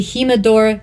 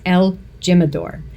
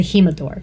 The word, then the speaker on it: El Jimador: so number six the himador tequila new mix Canadians May pronounce it as El Jimador you might know that better but it's the himador it also is made